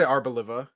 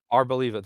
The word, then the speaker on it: Arboliva: I say Arboliva. Arboliva, that's how you say it.